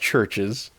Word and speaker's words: Chvrches: It's pronounced Chvrches. It is a Roman spelling of it. This is the band's explanation. It's a Roman spelling where in the Roman language, the Roman alphabet, V is substituted for U.